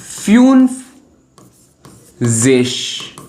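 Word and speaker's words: fünfzig: 50 को बोलते हैं फ्यूनिश।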